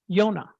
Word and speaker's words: Yonah: It told the story, but in Hebrew, his name is Yonah. The J is pronounced like a Y.